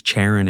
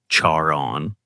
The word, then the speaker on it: Charon: Her nickname Char, pronounced almost the same as Charon in English. Charaon. Charon.